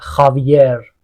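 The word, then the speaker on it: Javier: قرمز خیراف میشه زرافه پس ما جی تو اسپانیایی نداریم اصلا سجاد رو میگن سخاد حواست باشه جواد رو میگن خواد مثلاً خاویر مثلا جاوی نمیگن اون توی کاتالنه که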